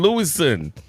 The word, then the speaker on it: Louison: side, I got LOUISON with one S. Yeah, one S. Yeah. It's like it's really a French name. It's LOUISON. Yeah. All right. That's how we pronounce it.